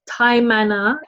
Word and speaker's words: Taimana: You can find me as Taimana Leader, TAIMANA. And Taimana means diamond leadership. But I'm using the word, it's a Maori pronunciation for the word Taimana.